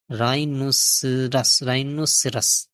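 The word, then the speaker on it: rhinoceros: গন্ডারকে বলে রাইনোসাস, RHRHINO, রাইনোসাস, CEROS, রাইনোস, রাইনোসেরাস, রাইনোসেরাস। গন্ডারকে বলে রাইনোসেরাস। এখানে এইচ উচ্চারণ হয় না।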